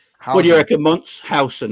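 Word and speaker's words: Huijsen: But Hyson, is that how you pronounce his name? Hyson? I'll keep hearing Hyson. What do you reckon, Mons? Housen, that's it. Not hoisin sauce.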